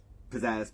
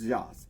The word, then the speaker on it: Zsasz: Pizzazz, Pizza Oven, I don't know how to say his last name. After a quick Google search, it's Zsasz.